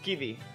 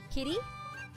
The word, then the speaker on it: Kidi: They call me Kidi. Kitty?